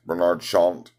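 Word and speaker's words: Bernard Chant: it is Barnard shocked I think it's a pronounces aunt bernarde shaunt easy nose behind this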